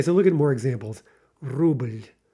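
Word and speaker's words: рубль: Ruble, ruble. Okay, again, it kind of depends on how you say it, how emphatically you say it. But if we're being strict, we would say that's one syllable. Indeed, we would say that again, especially if it were in a poem or something. Ruble, ruble. But almost inevitably, you're getting you're getting a little vowel intruding on that L.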